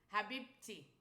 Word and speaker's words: habibi: Habibi.